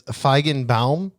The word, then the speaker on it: Feigenbaum: So it's Feigenbaum. I probably pronounced it. That is correct.